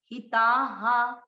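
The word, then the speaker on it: हिताः: ये है विसर्ग, विसर्ग का उच्चारण होगा इसकी मात्रा पर। ता में किसकी मात्रा हो रही है, आ की, तो इसको पढ़ेंगे हा। विसर्ग सभी ध्यान से सुने, क्योंकि विसर्ग के कारण हम कई बार गलती करते हैं, हिताहा।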